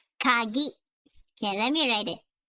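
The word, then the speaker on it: かぎ: This is ka. And this is ki. But then, now that it has tenten on it, it is gi. So it's pronounced as kagi.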